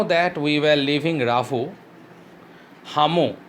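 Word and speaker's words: Lhamu: Now that we were leaving Ravu, Hamu, L is silent, said she wanted to give me a farewell present.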